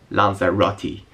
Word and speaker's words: Lanzarote: video check it out that's actually how you pronounce it lza Roti as you can see